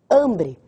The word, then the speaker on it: hambre: É a sílaba tônica. Hambre.